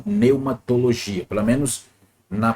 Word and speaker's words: pneumatologia: Lembrando que no grego P, ele é mudo, então pneumatologia, pelo menos na pronúncia